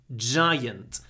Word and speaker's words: giant: killed a giant giant some people read this word wrong it's not g giant giant and it's also an